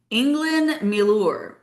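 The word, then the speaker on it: englyn milwr: It is pronounced England Millure. It is Welsh and that is why it is spelled like this.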